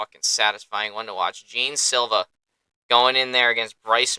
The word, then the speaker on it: Jean Silva: I think it's actually pronounced Jean Silva, not Jean Silva.